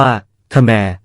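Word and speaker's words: ខ្មែរ: และ กลาย เป็น เขมน ออก เสียง ว่า คมร ดัง ที่ ปรากฏ ใน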